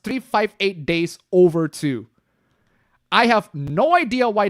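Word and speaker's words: 358/2 Days: It's 358-2, but it's actually pronounced 358 days over two.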